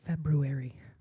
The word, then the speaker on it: February: How many of you guys pronounce that first R in February?